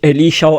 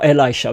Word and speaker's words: Elisha: The Schumanite woman in fact uh it was during the uh time of the prophet uh you can pronounce it Alicia Elisha both are possible.